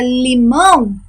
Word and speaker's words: limão: a última sílaba então na palavra limão a minha sílaba tônica é um mão ó limão um mão é